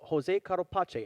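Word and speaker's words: José Carlos Pace: be taken to coming from brazil in interlagos jose carlo pache and yes i looked up the pronunciation of it yes indeed so now why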